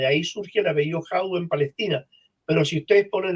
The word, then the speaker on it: Jadue: ahí surge el apellido Jadu en Palestina. Pero si ustedes ponen la palabra Jadua, pero con E final, no como se pronuncia aquí, Jadue, ustedes van a ver que son todos yemeníes.